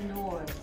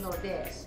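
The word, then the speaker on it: Nordés: They say in English, they say it as nords. But you should never pronounce this in English because this is not from England or America. Mm-hmm. It is a Spanish brand. So how do you say it? We have to say it by saying Nordes. Nordes. It's like saying Lourdes. Nordes. And there's an N on it. You say Lourdes, Nordes.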